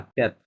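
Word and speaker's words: quatre: থন, কোয়াত, কোয়াত না, ক্যাট। Yuta silent আছে।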